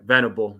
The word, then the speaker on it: Venable: socks just hired uh Rangers coach will V vanable I think is how you pronounce his last name I I okay Venable yeah good for them I mean they got